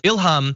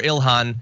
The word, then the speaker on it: Ilhan: So Ilhan Omar says Ilham I prefer Ilhan I never liked the m sound.